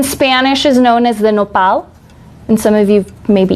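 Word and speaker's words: nopal: pear cactus in Spanish is known as the noal and some of you maybe eaten it how would you spell that n o p a l it's amazingly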